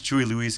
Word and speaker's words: Chewie Louise: you know oh yeah my name is chewie louise because it rhymes with huey lewis that's